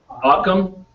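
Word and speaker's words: Ockham: a problem solving principle devised by william of ochman okay um am i pronouncing that correct akam thank you all right um it states that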